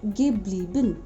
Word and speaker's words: geblieben: Where EI changes into IE, so bleiben, To stay. it becomes geblieben. The pronunciation also changes. Geblieben.